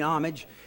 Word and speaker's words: homage: say it's to pay homage i don't know if it's with an a or an h with the roosevelt but i mean homage and i say that and as humble as i can be with a silent h is that they sometimes